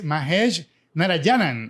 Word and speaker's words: Mahesh Narayanan: today our guest is mahesh narayanan i hope i'm pronouncing your name right that's correct all right he's a program